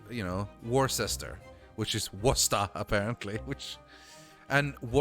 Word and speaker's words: Worcester: Because that's how it's spelled. Yeah. Or like, you know, Worcester, which is Worcester, apparently.